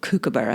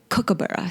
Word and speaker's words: kookaburra: oh, look, there's a kookaburra. And everybody fell on their butts laughing at me because it's not kookaburra, it's kookaburra.